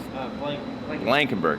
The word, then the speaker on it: Blankenberg: How do you say this? Blankenberg.